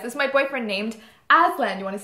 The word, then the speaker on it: Aslan: So yes, this is my boyfriend named Aslan. You want to spell that? A-S-L-A-N for November, not M for... People always call him Aslam. And I'm like... It's an N.